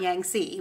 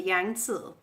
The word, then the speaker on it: Yangtze: in China and now this how you say that in Chinese by the way not Yangtze which is how Americans say it but the yang soo early human civilizations were